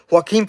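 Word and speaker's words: Joaquin: name ah man I'm a buter his name Haim Phoenix there we go right that's how you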